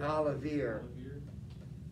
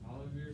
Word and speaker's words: Olivier: Yeah, but if you wanted it to rhyme with near, well, how would you pronounce it? Probably Olivier. Olivier Samson, the Duke, and his...